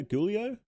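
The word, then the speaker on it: Giulio: here we go uh Julio gulio is how you pronounce it gulio uh Moravia worker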